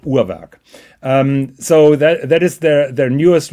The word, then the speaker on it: Urwerk: By the way, it's pronounced Uhrwerk. It's not Uhrwerk or Uhrwerk. Yeah, bullshit. It's called Uhrwerk.